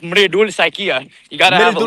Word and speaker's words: Mridul Saikia: Thoughts on, I'm gonna butcher the pronunciation, but Miridul Saikia, good enough for me. It's pronounced Mridul Saikia.